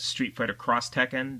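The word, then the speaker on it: Street Fighter X Tekken: Um we also have Street Fighter XT Tekken which I believe is pronounced Street Fighter Cross Tekken.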